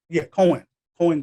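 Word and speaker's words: Koine: How is that pronounced? Koan? It is, Koan Greek.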